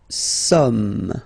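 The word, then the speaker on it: sommes: Okay, new some. Okay, so you don't pronounce the final S here.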